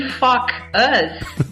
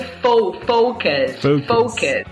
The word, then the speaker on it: focus: E fuck us, né? É outra coisa. Né? Então, o certo seria focus. Yeah. Que é um problema de pronúncia. Focus. Então, focus com fuck us.